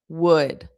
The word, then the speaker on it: would: Wood would. Okay. How much wood? Wood would a woodchuck. Would wo o d and would the modal verb wo u l d are the exact same pronunciation.